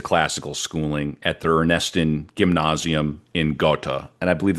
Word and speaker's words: Gymnasium: It's spelled gymnasium, but it's not like a Yeah. gym.